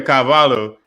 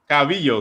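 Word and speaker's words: Calvillo: now we're gonna see cynthia cavallo cavillo excuse me say it correctly beat caitlyn triggerion and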